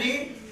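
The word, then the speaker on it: read: का इंग्लिश होता है रीड तो रीड का फर्स्ट सेकंड थर्ड फॉर्म भी रीड होता है स्पेलिंग वही रहता है लेकिन उसे कहा जाता है राड तो यहां पे जो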